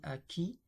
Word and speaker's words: acquit: par acquis de conscience donc on prononce euh il ils ont la même prononciation à qui a qui mais ici avec s ici avec T pour les bourré.